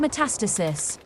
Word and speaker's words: metastasis: simulation of phase metastasis is it metastasis or metastasis i read it as met metastasis metastasis sure how do you say that word initializing fake head it's pronounced metastasis thanks fake net that's